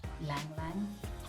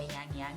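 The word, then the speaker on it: ylang-ylang: It's got like hints of lang lang. I hope I pronounce. I've never known how to pronounce that word, but it's spelled YLANG. I assume the Y is silent, so lang lang or yang yang.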